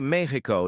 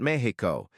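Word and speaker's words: México: You say Mexico, not Mexico. That X sound comes from Náhuatl.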